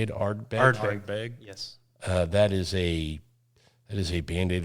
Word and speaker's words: Ardbeg: Ardbeg.